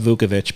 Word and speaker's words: Vukovic: pronounced Vukovic, by the way.